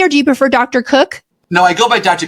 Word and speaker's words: Koch: prefer Dr or do you prefer Dr Cook no I go by Dr professionally partly